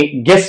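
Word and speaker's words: guess: य है इसके बाद तो यू आप देख सकते हैं कि ये जब ई के साथ आ जाए तो फिर य भी साइलेंट बन जाता है यानी गेस में भी आप देख सकते हैं कि यू के बाद ई आया हुआ है और में भी यू के बाद ई आया हुआ है तो इसलिए इसको प्रोनाउंस नहीं किया जाता डब डब् का भी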